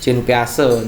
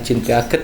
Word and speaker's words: Jean Piaget: Next berikutnya, tindakan guru yang tepat dalam mengembangkan kemampuan akomodasi menurut Jean Piaget, ya, Jean Piaget ini ya. Saya dikomplain karena ini bacanya bukan Jean Piaget kak, tapi Jean Piaget ya, Jean Piaget ya.